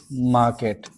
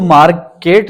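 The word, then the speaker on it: market: Will he have to गो टू मार्केट। और इसको मार्केट ना बोले मार्केट बोले। आर को साइलेंट रखें because आर is silent in British accent.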